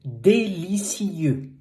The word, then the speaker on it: délicieux: You say c'est délicieux. Délicieux. Not ou, not en, e.